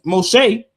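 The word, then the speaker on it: משה: They wouldn't say Moses. That's that's a Greek version. Mos Moshe because the Hebrew in the Dead Sea Scrolls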